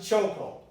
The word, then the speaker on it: chokehold: Chokehold contains choke and then hold. But you don't pronounce both sounds. Look, you pronounce chokehold because ka is very similar to ha. They're very close together in the same position of the tongue. So you simply eliminate one of the sounds and make the word easier to pronounce. So you pronounce it chokehold.